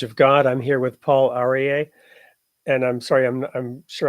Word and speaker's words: Paul Aryeh: I'm here with Paul Aryeh, and I'm sorry, I'm sure I'm mispronouncing your name. Do you want to go ahead and share All it with right. us? You said it perfectly, Paul Aryeh.